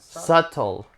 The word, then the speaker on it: subtle: you're not old what subtle the be is silent it's like herbs and